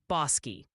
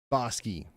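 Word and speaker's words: Bosque: Oh, and the official ruling from the chat council is Bos County, Texas is pronounced Bossi. Consider yourself served. Bossi.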